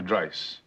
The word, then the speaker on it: Dreiss: Dr. Dreiss. Rhymes with price.